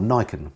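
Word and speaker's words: Niken: goes extra mile the Yamaha nichkhun or Nikon I think is actually what's pronounced it come out now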